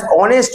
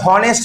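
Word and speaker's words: honest: Ramiz dash অনেস্ট বয়, মনে আছে তোমাদের? অনেস্ট, অনারেবল, মনে আছে এগুলো? আমরা এইচ দিয়ে উচ্চারণ করি কিন্তু এইচ এর উচ্চারণ হয় না।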